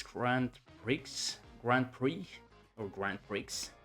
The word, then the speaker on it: Grand Prix: I think it's Grand Pris Grand Prix or Grand Prix. It's Grand Prix. You can you don't uh pronounce the X.